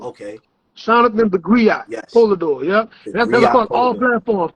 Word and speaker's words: Polidore: Yeah, SHOUTOUTS the Griot Polador. Okay. SHOUTOUTS the Griot Polador.